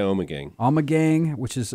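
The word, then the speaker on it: Ommegang: if you will from you pronounce an omec gang oh yeah oh my gang I'm a gang which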